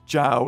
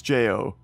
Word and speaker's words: Jo: if anybody told you how to pronounce my name but when they put out the YouTube videos are better than saying ciao it's Jo so so it's not ciao it's Jo right there you go